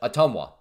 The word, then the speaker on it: Ottumwa: Ottumwa. Ottumwa, that's it. Ottumwa. That's how you say it.